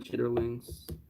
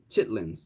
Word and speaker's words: chitterlings: I've smelt someone preparing chitterlings. Chitlins, that's how you say it.